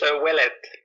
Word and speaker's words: Ouellet: is that how I pronounce it? Is it Ouellet? It's Ouellet.